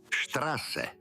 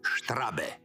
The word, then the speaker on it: Straße: Prononce-le comme le sifflement d'un serpent : sss. Straße. Vérifions. Pause et dis : Straße. Ne dis jamais "Strabe".